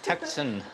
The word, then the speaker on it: Tucson: Yes, I knew how to pronounce it, Ben. I got it right this time. Tucson.